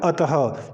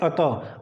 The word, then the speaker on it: अतः: होता है और अतः कई जगह हम पढ़ते हैं कि अत अत नहीं अतः यहां पर हमारे पास